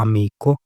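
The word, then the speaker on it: amico: Friend तो friend को बोला जाता है अमीको।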